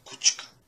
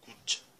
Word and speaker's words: kuća: Só que você vai falar kućka, fala kuća, que é fraco.